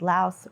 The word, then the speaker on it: Laos: Yeah, it pronounces the S at the end, whereas I found a lot of local people here don't say the S, they just say Lao.